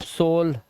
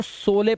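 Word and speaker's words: sole: अब पहले मैं भी सोचता था इसको सोले पढ़े, सोले, सोले, लेकिन फिर पता चला लास्ट का ई साइलेंट होता है, और दो कॉन्सोनेंट के बीच में ओ आया है, लास्ट में ई है, तो इसको ओ से पढ़ेंगे तो सोल हो गया है।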